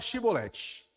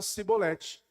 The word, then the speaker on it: shibolete: Aí eles falavam assim: então fala shibolete, que era um termo que os efraimitas não conseguiam pronunciar, eles pronunciavam sibolete, por uma diferença linguística.